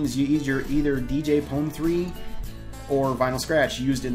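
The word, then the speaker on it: DJ Pon-3: And we have a canon pronunciation of DJ Pone 3, not DJ Pony.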